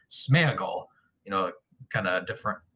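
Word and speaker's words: Sméagol: uh is i think gollum's name in the movies at least was like sneagle but i heard i heard that tolkien scholar tom shippy pronounced it that says that the correct pronunciation is smeagle you know kind of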